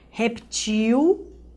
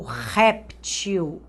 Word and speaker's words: réptil: Como eu já havia dito, projetil, projétil, reptil ou réptil.